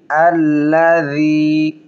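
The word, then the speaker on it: الَّذِي: আল্লাযী জাল পাতলা হবে এবং নরম হবে।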